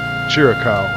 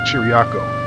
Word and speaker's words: Chiriaco: I pronounce the town I kept saying cheerical it should be chiriako so my apologies to